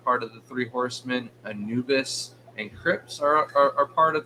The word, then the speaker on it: Anubis: Julian said if we're going to start pointing things out, Anubis is a Egyptian I know I've god. said Anubius at least Anubius once is before the that.